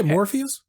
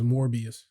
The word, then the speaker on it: Morbius: Like how are you gonna make that appealing to Did you say Morpheus? Yeah. His name is Morbius.